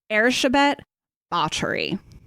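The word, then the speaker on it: Erzsébet Báthory: otherwise it's me way too distracting so countess err Chabot pottery that's how you pronounce it Hungarian I will be calling her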